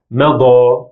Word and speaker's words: مضى: For that, I will use these two words in order to distinguish between the two sounds in this couple. The first one, mede, which means arrange, and the second one, mada, which means gone or has gone.